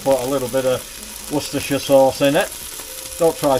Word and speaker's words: Worcestershire: if I don't put a little bit of Worcestershire sauce in it don't try saying that when